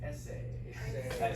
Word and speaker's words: essay: Everybody say essay. Sometimes I hear y'all say essay, a second syllable, right? Okay. Student's essay is too short. Essay, first syllable, right?